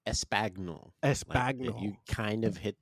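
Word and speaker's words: espagnole: Um, Paul did a quail put, but his is it pronounced espanol? It's It's pronounced espagnol.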